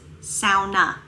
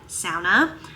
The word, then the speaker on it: sauna: But fun fact, the proper pronunciation is sauna. It is a Finnish word and it is supposed to be said sauna.